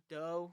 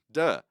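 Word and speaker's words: Deux: But so it's pronounced dough, right? Ah, duh, Duh. duh, meaning two in French.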